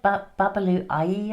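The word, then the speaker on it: Babalú Ayé: It's an African god, Babalu Ayi, I think is how you pronounce it.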